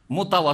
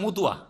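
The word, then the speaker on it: مطوع: মোতাওয়া শব্দ শুদ্ধভাবে উচ্চারণ করতে পারে না বাঙালিরা, কি করে দেয়? মুতুয়া। কি করে দেয় ওটাকে? ওদের ভাষাটা বলেন তো বাঙালিদের। হ্যাঁ, মতুয়া। হ্যাঁ, মোতাওয়া বলতে পারেন না, কারণ শব্দটা হচ্ছে কি? মোতাওয়া।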